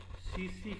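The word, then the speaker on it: tsetse: spread through सीसी फ्लाई ये T silent है इसमें सीसी फ्लाई जैसे वो मलेरिया होता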